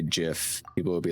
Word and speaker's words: gif: for jiff sound gif hard g for jiff i force myself to say gif when i say it out loud although in the back of my head i know jif is the correct way damn it also i